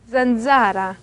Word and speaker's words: zanzara: 이거는 약간 부드러운 발음이에요. 어두운 에세이에서는 어두운 발음이라고 얘기를 했다면 여기선 조금 부드러운 발음이에요. 그래서 z, zanzara. 그러니까 S에서의 그 S 소리가 조금 더 구체화되는 거예요. z. 근데 ts는 아니에요. z, zanzara, puzza.